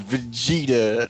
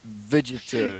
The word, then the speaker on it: Vegeta: meth vegeta excuse me it is vegeta not vegetarian excuse me sir but i believe the name is kakarot sorry i tried to say it like the real word vegetable yeah yeah well fireworks